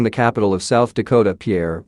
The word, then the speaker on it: Pierre: It's pronounced Pierre, we're not French, and stop wasting my time."